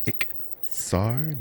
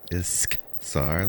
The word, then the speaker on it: Ixar: It is Ixar, not Iskzar, like the EVE Online currency.